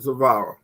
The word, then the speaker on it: Zvara: gentlemen from a to z will zavara how you doing tonight i am fantastic and